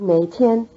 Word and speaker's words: 哪天: You'll recognize the syllable nei of nei tian as the same syllable nei from nei guo, which country.